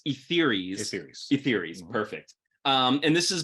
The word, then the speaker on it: Etheres: I believe it's like ether, so it's Etheres.